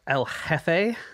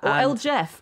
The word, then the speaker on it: El Jefe: He called himself El Jefe. Mm-hmm. El Jeff, if you want to give it this anglicized pronunciation, which is more funny.